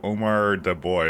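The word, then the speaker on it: Omardeboy: thank you thank you if you segment my name into Omar de boy it's easier to pronounce oh that's what it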